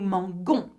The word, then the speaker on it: mangeons: You must not get rid of the E because if you do that, it's nous mangeons.